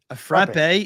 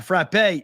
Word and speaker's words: frappe: Whoa, frappe is not what Friendlies has. Friendlies calls it a frap. A frappe. He's sending me the pronunciation guide in the Discord channel saying it's frappe.